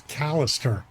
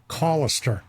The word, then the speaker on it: Callister: I always thought it was Callister, but he I said, think "Oh, everyone no. does. Yeah, it's Callister. Like, call him Callister."